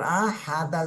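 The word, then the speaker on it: أحد: যায় এখানে আমরা কলকলা করে পড়বো হামজাহ জবর আ হাদাল জবর হাদ আহাদ আহাদ এভাবে আহাদ কুলুহু ওয়াল্লাহু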